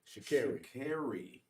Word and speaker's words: Sha'Carri: Shakari.